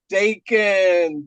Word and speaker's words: Dakins: Dakins.